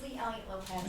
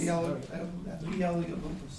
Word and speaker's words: Lee Elliott Lopez: It's Lee Elliott Lopez. Lee Elliott Lopez. Yeah. Maiden name's Elliott, new name's Lopez.